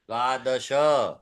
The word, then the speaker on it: द्वादश: एकादश एकादश द्वादश दश द्वादश श पूरा है ओके त्रयोदश त्रयोदश चतुर्दश